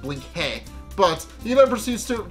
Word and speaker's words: Blinky: And, of course, he also plays off that he's Hungarian and that it's pronounced Blink-hey.